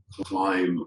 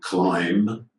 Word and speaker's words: climb: here could could again many people are going to be pronouncing the bees here climb but not climb asylum plummer and in